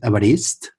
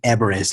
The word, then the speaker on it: Evarist: In fact, in Catalan is the name is called is pronounced Evarist. Yeah, so it's quite different from the English, especially American English. So all the customers used to ask me Everest, like a mountain.